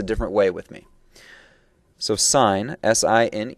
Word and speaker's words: sine: is referred to as sign and that's pronounced just like what a stop sign would be it's not sin that's bad okay it's